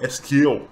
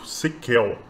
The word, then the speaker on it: SQL: SQL, a pronúncia dele, na verdade, é Esquel, também é bem famoso, Sequel, que é como ele era chamado antes mesmo de de ser abreviado em SQL.